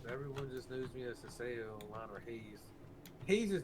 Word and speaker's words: Haseoryu: He'll call me you call me Hase. and my girl, she wants my attention. If I'm ignoring her, she'll call me. She was like Hase. I'm like, oh god, like don't do that. Don't call me that. Oh man. Well, don't make your gamer tag so hard to pronounce. It's Haseoryu.